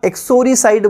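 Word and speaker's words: uxoricide: sorry side कहलाता है spelling ध्यान रखना यूएक्सो आर आई सी आई दी आई और इसे बोलेंगे क्या एक सॉरी साइड बोलेंगे सॉरी कहलाता है प्लेस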